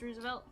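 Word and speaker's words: RSVLTS: I think is actually the company but it's pronounced Roosevelt tamales with green sauce I no I I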